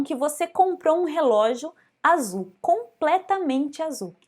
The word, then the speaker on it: azul: Em português a gente fala com o som de Z, azul, mas em espanhol, azul.